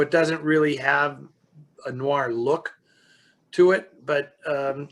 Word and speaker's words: film noir: uh my friends my french friends tell me that the r is actually there so to say noise where there is no r at all is actually incorrect and but i find that in pronouncing it and when i first started doing all of this i was an adamant american you know saying i'm going to call it noir noir film noir but um but now